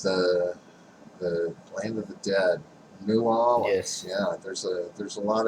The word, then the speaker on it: New Orleans: Land of the land of the dead, New Orleans. Yes. Yeah, there's a lot of Was it dead not? history there. It's actually pronounced Nolans.